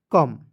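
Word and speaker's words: come: सी ओ एम ई तो सीओ एम ई को सम नहीं पढ़िए सीओ एम ई को पढ़ेंगे कम ठीक है सी ओ एम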